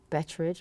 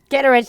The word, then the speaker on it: Kitteridge: careers, and Franny McDormand, Olive Betteridge, what was it? Am I getting the name wrong? Kitteridge, thank you.